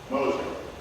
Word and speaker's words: Gmoser: it is Carl H Moser and the name is Moser the g is silent but leave out that